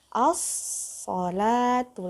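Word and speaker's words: الصلاة: Ada, berarti silamnya tidak dibaca. Jadi bacanya as-sholatu, langsung ke so karena so-nya ada, dia bertasdid. Jadi lamnya tidak dibaca.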